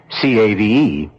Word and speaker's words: cave: For myself, I equate cave with the Latin word spelled the same way, C-A-V-E, but pronounced cave.